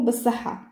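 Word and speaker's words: بصحة: Et en dialecte marocain, le ta, là, le ta, il est muet, on ne le prononce pas. On va dire seulement bassaha.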